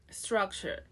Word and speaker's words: structure: This is a 2-syllable word with first syllable stress. Structure. We start with an S. Struck. This DR becomes into a ch. Struck. Shua. Struck. Okay, struck. The second syllable is sh.